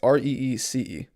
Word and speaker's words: Reece: It's spelled neither of those ways, devil. It's Reese, the second one, it's Reece.